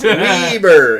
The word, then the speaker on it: Weber: Weber. It's not Weber. It's Weber.